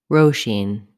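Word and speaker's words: Róisín: presents how to pronounce roshin the first vowel in roshin is o roshine the second vowel sound in roshin is the e vowel roshin letter s is pronounced as sh roshine the stress falls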